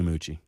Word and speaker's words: Moochie: Am I pronouncing that correctly, Moochie? Yes, you are, man.